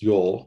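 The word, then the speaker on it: jól: yule y-u-l-e sometimes pronounced yol j-o-l but the j is pronounced as a y where did this idea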